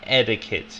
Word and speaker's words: etiquette: for me edit yeah etiquette yeah it's like um it's like it's like um the the t makes like a d it makes like a d sound etiquette kit yeah educate